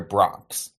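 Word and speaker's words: Broncs: foxes and the rider Bronx Bronx as in Broncos but no o not as Inon from New York can't afford that second syllable first of all the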